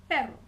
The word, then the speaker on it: perro: little bit longer um there is a difference between saying and erre for instance we have two words look similar except one has the single R the other one has the double r the first word perro pero meaning but if I want to